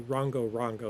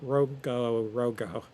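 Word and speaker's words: rongorongo: Easter Island has something known as the in English they say rango rango. It's not really pronounced that way.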